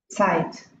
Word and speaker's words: Zeit: Olha a pronúncia. Zeit.